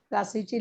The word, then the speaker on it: Plassey: Teacher प्लेसी. हा बरोबर, तर इंग्रजीमध्ये आहे ते नाव प्लासी. प्लासीची लढाई आपण गेल्या पाठात पाहिलं होतं. प्लासीची लढाई. हा, प्लासीची लढाई किती साली झाली सांगता येईल? प्लासीची लढाई किती साली झाली, काही कल्पना आहे?